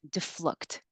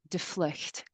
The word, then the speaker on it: DeVloot: it is, well, so here in America, uh, most people pronounce it defluct. So the DeVloot. V sounds like an F. Okay. It's Dutch, and if you're Dutch, you speak Dutch, and I'm probably even going to butcher my own last name. It's pronounced de vlucht, and it's Oh, I